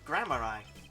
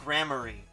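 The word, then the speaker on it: Gramarye: don't tell me you don't know about troop grammar eye trip grammary oh it's pronounced grammary wait i was right then huh no but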